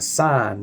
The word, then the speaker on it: sign: A sign though you the G is silent.